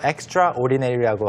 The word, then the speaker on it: extraordinary: 발음은 주의하셔야 되겠죠. extraordinary라고 하는 거는 이제 강조할 때만 쓰는 말이고 Right. 실제로는 Extraordinary. Extraordinary. 그래서 ext까지 하시고 extraordinary Right, extraordinary. 이렇게 하셔야 됩니다.